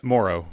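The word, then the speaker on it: Mauro: the 1920s by Moreau is that how you say his name Morrow yeah Philip Moro yeah and uh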